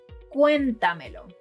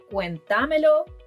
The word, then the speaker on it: cuéntamelo: Some examples include: Cuéntamelo. It's not cuentámelo, cuentameló or cuentamélo.